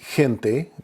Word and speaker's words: gente: And of course, those exceptions on the G are whenever the G is followed by either an E or an I, then it makes the H sound. Examples would be gente, G-E-N-T-E, gente.